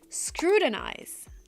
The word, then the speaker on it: scrutinize: It's not scrutinize, it's scrutinize or scrutinize. You can pronounce the T like a real T, scrutinize, or you can do a stop T and go directly to the N. Scrutinize. But you cannot say scrutinize.